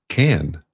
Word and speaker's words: Cannes: It's just pronounced can. You don't pronounce the S.